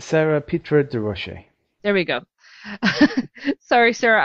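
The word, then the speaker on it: Sara Pitre-Durocher: Sarah Peter DeRoche. DeRoche. I think that's how you say it. It's Sarah Petra de Roche.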